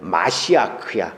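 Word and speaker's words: מָשִׁיחַ: 근데 거기서 파생된 기름 부음을 받은 자 크리스토스에 해당되는 히브리어는 마시아크야. 근데 이 마시아크가 우리 발음으로 메시아야.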